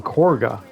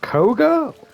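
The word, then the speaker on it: Kagha: looking at the spelling it sounds like they're saying corga like there's an r in there there's no R in there Co Koga it sounds like they're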